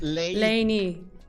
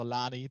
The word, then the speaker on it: Lainey: And she says she's pronounced Lainey. Okay, Lainey. I was correct. I am so sorry, Lainey. I pronounced your name in a German way, so Lani.